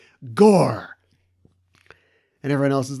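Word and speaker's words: Gorr: Oh, no, I guess it does kind of rhyme with Thor. It rhymes with Thor.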